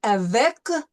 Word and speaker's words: avec: Okay, so avec, we pronounce the C. That's one of the ending letters that we learned last time that we pronounce at the end of words.